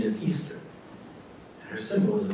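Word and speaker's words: Oestare: first week in April the way you would spell the name of this holiday was o e s T ar e pronounced Easter that was celebrated for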